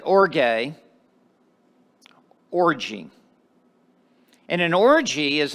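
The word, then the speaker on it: ὀργή: Now the word wrath, I'm going to pronounce the Greek word because it comes into the English language and you're going to immediately recognize it when I pronounce it orge, orgy.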